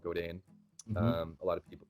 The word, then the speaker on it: Godin: endorse is it a Canadian guitar company called go Dane a lot of people it's spelled gio di n you like goat in